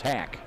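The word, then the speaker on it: Hach: Spelled H-A-C-H. They told us it's pronounced Hack.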